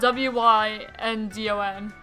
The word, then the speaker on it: Wyndon: It's spelled W-Y-N-D-O-N. I pronounce it Wyndon.